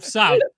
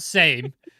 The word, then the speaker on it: Sam: By the way, I'm Sam, not Same.